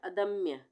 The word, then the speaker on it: अदम्य: के ऊपर लगेगी अथर्व अदम्य अदम्य अगर हम बोलते अदम तब यहां पर पूरा म होता अदम अब यहां पर हम बोल रहे अदम्य तो आधे म का उच्चारण हो रहा है तो यहां पर